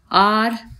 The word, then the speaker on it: hour: 4th, yesterday I spent blank hour cleaning blank house। तो यहाँ पर आर से पहले हमारा ब्लैंक है बच्चों, तो इसमें हमारा एन आ जाएगा क्योंकि एच यहाँ पर साइलेंट है।